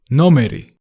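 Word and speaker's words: ნომერი: for number in Georgian no Marie no Marie no Marie it was easy right did you notice that it ends in E as well most nouns in Georgian and with E say number no Marie no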